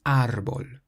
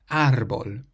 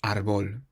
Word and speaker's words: árbol: The sixth word is tree, and it has an accent over the A, so we say árbol, árbol, not árbol.